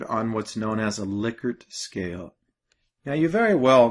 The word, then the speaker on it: Likert: And the first thing is you might have heard it called Likert scale, which is very common to call it that. But it's actually Likert. So it's pronounced Likert instead of Likert.